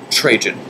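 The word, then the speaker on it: Trajan: F he made a good choice and adopted trun he made a good choice and adopted trun trun is spelled right below t r a j an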